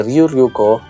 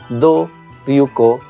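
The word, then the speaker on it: Ryu Ryuko: Se cree que Ryu-Ryuko, que también se pronuncia Do-Ryuko y Ru-Ryuko en japonés, y Wai Xinxiang fueran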